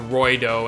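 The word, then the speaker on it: ロイド: because obviously you know the way you pronounce Lloyd in Japanese is kind of with an R I get to Roy doe instead of just like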